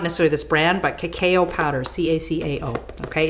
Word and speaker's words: cacao: This is cocoa. It's raw, so it's actually pronounced cacao.